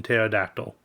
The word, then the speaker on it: pterodactyl: Also, the P is silent like in Pterodactyl.